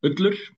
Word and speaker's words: Ullur: And I want to ask you about I'm going to try to pronounce the name of the song. Ulur. Yeah, Ullur.